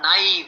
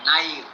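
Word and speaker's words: naïve: The word naive, one who is very innocent and very, very unsuspecting, naive. Okay, so you put two dots on the I to say that it has to be pronounced separately, naive, or in French, Noël.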